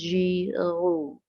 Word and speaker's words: Giroux: Then we have Henry, as they pronounce the name, it is Giroux, okay, and Michael Apple, and these scholars for critical pedagogy.